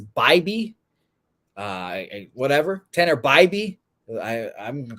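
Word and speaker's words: Bibee: And I think Tanner, and I've been calling Bibby. Apparently it's Bybee.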